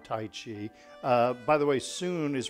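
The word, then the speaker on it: Sun: soon style of Tai Chi by the way soon is pronounced it's pronounced soon like swn it's spelled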